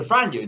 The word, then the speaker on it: Franjo: from zagreb in croatia his name is franio so franyo do you mind introducing a south tower audience first of all i just need to commend your creation pronunciation uh you know really really good i didn't expect that